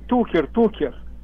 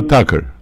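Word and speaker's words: Tucker: Такер Карлсон? Нет, Тукер. Кто на Fox News. Тукер, я не знаю его... Ну, я понял, это Такер. Так, его вообще произносится... Такер, да. Карлсон.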